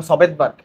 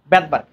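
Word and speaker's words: Svedberg: বেদবার্গ কি বার্গ বেদবার্গ যদি আমি আগে এটার উচ্চারণ করতাম সবেদবার্গ যদি আসলে সবে বার্গ না এস এর উচ্চারণ হবে জার্মান ভাষায় এস এর উচ্চারণ হয় না বেদবার্গ তো উনি যেটা করছে রাইবোজোমের ছোট খন্ডটার হচ্ছে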